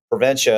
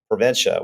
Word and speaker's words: Preventia: started with the podcast how exactly do you pronounce prenta well it's easy you just say I'm gonna prevent you from getting sick I'm gonna prent you